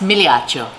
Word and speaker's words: Migliaccio: is a mouthful and it's it correctly pronounced Milioti Oh for real my